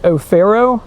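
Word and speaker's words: Offero: The suspect who we have in custody who was transported, his first name is O'Farrow, and I'll spell that. That's O-F-F-E-R-O.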